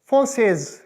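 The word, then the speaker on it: française: इस तरह प्रोनाउंस होगा फोंसेज, फोंसेज। बस ई, वो ई का साउंड आप इसमें एंटर करेंगे, फोंसे, फोंसेज, बस यही डिफरेंस है।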